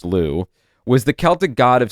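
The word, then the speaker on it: Lugh: Their theory well not their theory but the what they put forward is millennia ago Louu l u gh but pronounced Louu was the Celtic god of sun and light.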